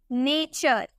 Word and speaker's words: nature: ठीक है, उसी तरह से अगर हमें बोलना हो NATURE, यहाँ पे आपको टी के बाद URE नजर आ रहा है ना, तो इसे हम चौ में प्रोनाउंस करेंगे, हम बोलेंगे नेचर।